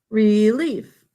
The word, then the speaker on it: relief: step please write relief relief e says its name in the first syllable an open syllable second syllable the e sound is e i piece of pie relief great job